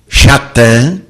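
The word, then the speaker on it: שָׂטָן: do mau no entanto a palavra satan hebraico a pronunciada por jesus schattan não significa satanás significa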